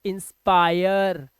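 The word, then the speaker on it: inspire: rule number 26 क्या कह रहा है, कह रहा है जब किसी वर्ड में आई के बाद RE आ जाए तो इसका उच्चारण हो जाएगा आय, क्या हो जाता है,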